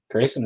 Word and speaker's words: Grayson: Grayson rhymes with Jason, right? Yes.